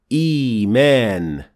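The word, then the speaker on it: إيمان: And for the word إِيمَان, it becomes إِيمَان, because the first Hamza had كَسْرَ under it, and therefore the second Hamza turned into a ya, which is the long version of the كَسْرَ.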